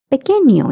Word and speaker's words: pequeño: And notice that N with the curly line, it is pronounced as nia.